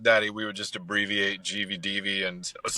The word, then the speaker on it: GVDV: So is that how you pronounce it? Is it GVD? Is it GVDV?